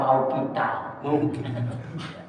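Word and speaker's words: مَوْقُوتًا: Bacanya inna sholata kanat alal mu'minina kitaban mawquta. Bukan mau kita sehingga sholat zuhur jam 2.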